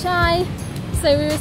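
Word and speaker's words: chay: Also, yesterday we were vlogging about how the vegan word in Vietnamese is che, but it's actually pronounced chai.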